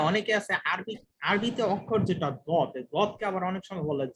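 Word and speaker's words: ضاد: হ্যাঁ জি, একটা বলছেন, অনেক সময় অনেকে আছে আরবিতে অক্ষর যেটা দদ, দদকে আবার অনেক সময় বলে জোয়াদ।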